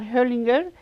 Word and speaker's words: Hoglinger: Hoglinger is the right pronunciation.